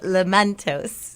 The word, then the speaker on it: Lamentos: But we have queued up Lamentos.